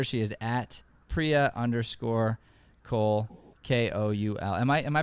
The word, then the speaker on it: Koul: she's on twitter she is at priya underscore cole k-o-u-l am i am i pronouncing cole right yes perfect okay yeah i'm always worried